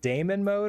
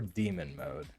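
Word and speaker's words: daemon: do you pronounce it do you pronounce it Damon mode or demon mode I've always used Damon to sort of differentiate from like demons okay so this is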